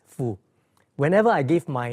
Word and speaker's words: Foo: My last name is pronounced as Fu.